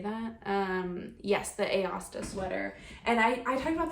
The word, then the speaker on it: Aosta: Yes, the Aosta Sweater.